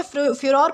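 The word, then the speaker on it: furore: दोस्तों इसे फ्यूर प्रोनाउंस किया जाता है जिसका मतलब होता है भारी आक्रोश या फिर हंगामा।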